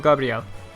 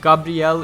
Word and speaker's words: Gabrielle: I can easily see don't Gabrielle and it's not Gabriel mind you because kana is very specific to the Japanese kana that they use for Gabrielle Gabrielle is very specific Gabrielle it puts the pronunciation there they get they could have said Gabriel but they didn't so it's Gabrielle that's very important information